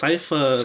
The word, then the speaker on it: Sypha: It's Sypha. It's pronounced Sypha in the cartoon.